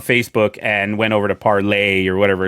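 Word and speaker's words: Parler: was it not popular it was supposed to be parlay but okay so many people are calling it parlor they were like yeah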